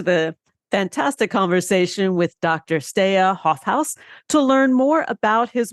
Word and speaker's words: Steije Hofhuis: On Twitter, you can find Steije Hofhuis at HOFHUIS So it's a unique pronunciation, Steije Hofhuis. And on LinkedIn, you can find him at the same, Steije Hofhuis, and that's STEIJEHOFHUIS.